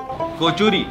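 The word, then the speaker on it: কচুরি: तीन फूली हुई गरम कचोरिया एक साथ रखी कोचुरी कचरी कोचुरी द राइट प्रोनाउंस हम बंगाली का रोला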